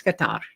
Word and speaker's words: Qatar: Indeed, several reporters in our press conferences have expressed their offense at the fact that we keep calling them Qatar. It's not Qatar, it's Qatar.